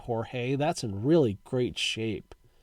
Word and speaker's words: Jorge: Johnny walkenfuss Jorge orta I think back in the day they just called him George orta um but today we would pronounce that Jorge that's in really great